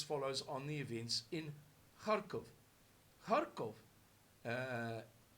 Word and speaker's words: Kharkov: events in harkov uh which is the same as how to give it's a very very flat eye therefore sometimes in English we spell it with an eye and sometimes Kharkov but it's something in between summing in between the two same place why did